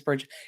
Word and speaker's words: Brigitte: Now, Brigitte, can you hear me okay? Bridget, even? Oh my God, why do I keep calling you Brigitte because it's spelled that way, but I know your name is Bridget.